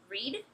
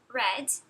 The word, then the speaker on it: read: A pronúncia vai de read, presente, para read, passado e particípio.